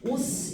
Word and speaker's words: 옷: 얘들아, 현대국어는 얘를 읽을 때 어떻게 읽어? 이 글자 읽을 때 옷 이렇게 있죠. 옷 이렇게 읽어요. 근데 중세국어 때는, 조선시대 때는 시옷의 발음을 그대로 살렸어. 그래서 이 글자 읽을 때 어떻게 읽었냐면 오스 이렇게 읽어. 오스.